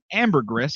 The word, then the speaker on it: ambergris: vomit, better known as ambergris, Yep. is a valuable resource used by perfume makers to help a scent last longer. I think it's just the S is silent.